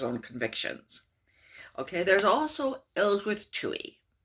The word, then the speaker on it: Ellsworth Toohey: Okay, there's also Ellsworth Toohey. Ellsworth Toohey. Okay, it's no coincidence that it rhymes with worthless hooey.